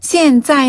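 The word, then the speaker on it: 现在: 现在 는 현재라는 단어를 现在 라고 발음을 해요. 现在.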